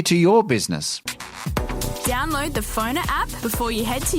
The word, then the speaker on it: Pfonr: Download the Phoner app before you head to your next event. Find people easier, market yourself better, and get connected using Phoner. That's spelled PFONR. Phoner.